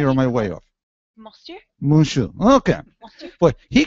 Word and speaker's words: monsieur: Am I doing that pretty close to the French pronunciation, Stephanie, or am I way off? Monsieur?